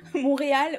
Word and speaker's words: Montréal: Je serais plutôt partante pour partir du côté Québec, Montréal, je crois, Montréal, je crois que le T se prononce pas, Montréal ou Québec.